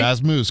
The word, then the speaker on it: Rasmus: yeah this is all I think it's Rasmus right razzmus correct this is Rasmus letting